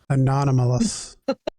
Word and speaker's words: anomalous: Anomalous. I think, did I say it right? Not anonymous. Anomalous.